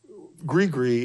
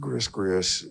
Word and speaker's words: gris-gris: of people and so I took certain certain gri gree is a spell that's what what it means and it's not pronounced Gris GIS and that's okay if you think it is